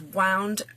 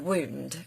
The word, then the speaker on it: wound: So number one is the bandage was wound around the wound. So both the words wound and wound are spelt identically, but they have two different pronunciations and they have two different meanings.